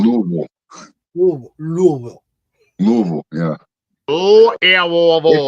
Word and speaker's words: Louisville: Louisville. If you say it like you're supposed to in the dictionary, it's Lewisville.